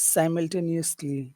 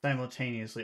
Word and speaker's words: simultaneously: Is simultaneously. Simultaneously. Okay, so this is, let's see, how many syllables are in that word?